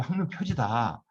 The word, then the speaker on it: 항로표지: 왜냐하면 지식할 때 식자로 읽는데 항로표지라 읽을 때만 이 식을 지라고 읽습니다. 우리가 유설이라 읽지 않고 유설이라 읽듯이 이 중요한 몇 글자가 있습니다. 한자가. 그렇듯이 원래 항로표식이라 읽으면 안 되고 항로표지다.